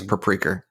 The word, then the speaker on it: Paprika: But it's the same director as Paprika and what's the one I just You're pronouncing it wrong. It's Paprika. It's Paprika.